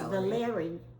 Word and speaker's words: Valery: but I found that Valery is a Russian name, and it's a male name, not a Valerie. It's Valery, pronunciation.